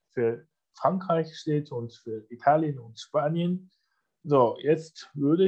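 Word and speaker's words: 意大利: Und Italien, ja, Italien hat nicht das Schriftzeichen Gur dabei, sondern das kommt auch von der Aussprache, aber vor allem aus der englischen Sprache, nicht der deutschen Aussprache, sondern englische Aussprache Italy. Und heißt dann Itali.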